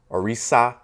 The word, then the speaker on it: Orisha: In this Yoruba term, Orisha, which is sometimes vocalized and pronounced as Orisa, meaning deities, is also